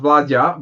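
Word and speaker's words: Vlaada: I finally learned that it's not Vlada, but Vladja, but that's how far I got, so sorry.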